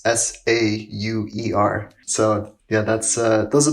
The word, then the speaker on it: Sauer: I'm on Instagram at.sauer, and my last name's spelled like sauerkraut. It's Sauer.